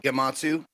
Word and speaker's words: Gematsu: quick reaction jp uh it is it is pronounced gematsu matsu is peanut butter it's peanut butter i